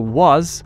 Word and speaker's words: was: Remember that was is pronounced with a zeta.